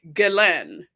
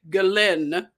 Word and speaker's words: Ghislaine: They say Ghislaine.